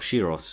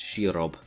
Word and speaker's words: Shirob: oh uh looks like i pronounced his name wrong it's not shiros it's shirob preparing him for a